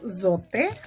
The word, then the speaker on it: Zote: so soap or zote i have now figured out the correct pronunciation to it it's called zote so i bought it